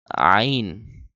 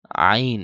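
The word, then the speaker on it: ع: অনেকে হা বলতে থাকে আইন আইন আইন আইন বলতে থাকে গলার ভেতর আর ঢুকায় না গলার ভেতর ঢুকিয়ে হা আইন হা আইন এভাবে উচ্চারণ করতে হবে আর এটারে সা বলে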